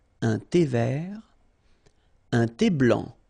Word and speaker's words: blanc: thé vert, un thé blanc, final C not pronounced, un thé blanc, ok?